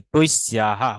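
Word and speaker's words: तस्याः: তৈস্যা মানে তার, এখানে জফালা দন্তস্ব জফালা আকার বিসর্গ থাকতে হবে, তৈস্যাহা উচ্চারণ করতে হবে, তৈস্যাহা, তাস্যাহা। আগে বলতাম আমরা তৈস্যা, আর এখন বলবো তৈস্যাহা।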